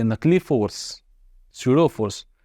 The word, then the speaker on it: pseudo: तो I hope आपको यहाँ से नकली force, सूडो force, P silent है, पी सूडो ना बोलना, पी सूडो, सूडो फोर्स